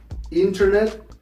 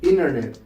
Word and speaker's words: internet: When you see a word with the letter N, T, the letter T is not going to be pronounced.